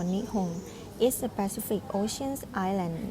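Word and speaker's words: 日本: Japan, pronounced in Japanese as Nippon or Nihon, is a Pacific Ocean island nation off the coast of mainland Asia.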